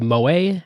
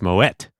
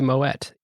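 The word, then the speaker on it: Moët: You pronounce it as in Dutch with a hard T. Mo. All right. So it is actually Moette brand is so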